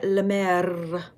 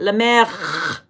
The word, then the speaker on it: La Mer: Okay, now I am going to use my La Mer. That's not how you say it. La Mer.